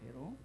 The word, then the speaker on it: 야훼: 사실 이것은 원래의 이름의 뜻은 야훼란 말인데, 야훼인데, 그래서 여호와를 야훼라, 이게 정석적인 이제 히브리식 발음이거든요. 그래서 지금 여의도 순복음교회는 여호와라 하지 않고 다 야훼로 읽습니다. 야훼로.